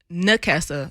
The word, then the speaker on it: Nakessa: I was like, it's Nakessa, which I guess me being country, sometimes the N sounds like an M.